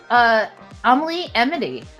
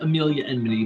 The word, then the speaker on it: Amelia Enmity: Comic-Con, Baltimore Comic-Con, FlameCon, Small Press Expo, and then creator of characters Amelie Emity, and self-published my own sketchbooks and webcomics. I think it's pronounced Amelia Enmity, but yes.